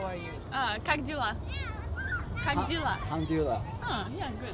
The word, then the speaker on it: Как дела: Как дела?